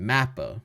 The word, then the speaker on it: MAPPA: So the a so he said mappa and I've heard people say mappa but animation should be mappa animation mappa right that's the correct pronunciation right mapper I don't know